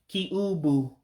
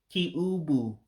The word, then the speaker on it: kiubu: Again, you just look out for the I that makes an E sound instead of what you would think in English. So it's kiubu for cube. Kee-Ooh-Boo for cube. So Kee-Ooh-Boo is cube. So Kee-Ooh-Boo, cube. Almost sounds like cube in English.